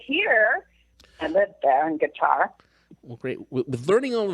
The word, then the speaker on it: Qatar: That I heard guitar. Good. That's what I said. Like all of them said, you say it like a guitar, but it's guitar.